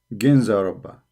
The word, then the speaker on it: Ginza Rabba: So here they are pronouncing it Kanza Rabba. You see it? Kanza Rabba. Here in Wikipedia they pronounce it as G. Ginza Rabba.